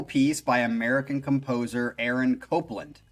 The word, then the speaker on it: Copland: This first one is starting off with a classical piece by American composer Aaron Copland, pronounced Copland. Yeah. Yeah, I didn't think it would be Copland, even though there's no E.